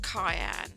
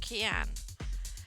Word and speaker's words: Kianne: this yeah um but it's not pronounced cayenne even though it looks looks like it's spelt cayenne it's key k and i in it the k and the i is a cut an e yeah but you put them together and that pronounces an e so it's key and yeah kian so whenever i anybody